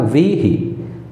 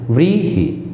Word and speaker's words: बहुव्रीहि: व्रीहि, बड़ी की मात्रा और छोटी की मात्रा बोलने में भी ध्यान से। व्रीहि, ही धीरे से, व्री तेज से।